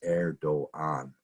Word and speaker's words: Erdoğan: with a G, but the G has a little over the top of it, and that means that it's basically silent. So it's Erdoğan.